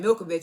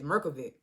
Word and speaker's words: Mirkovic: name I realized I was pronouncing his name the whole time wrong I was saying Milkovich his name is mirkovic but hey look uh